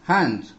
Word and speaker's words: hind: He ran till his hind, pronounced as hand.